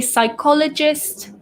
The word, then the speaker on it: psychologist: which is the study, we don't pronounce the P. So the P is silent. It sounds like it starts with an S.